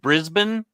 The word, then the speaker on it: Brisbane: Is it Brisbane?